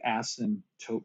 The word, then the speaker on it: asymptote: a spelling we say ass and taupe we don't pronounce the p i sometimes will try